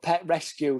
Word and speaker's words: Petrescu: It's spelled Pet Rescue.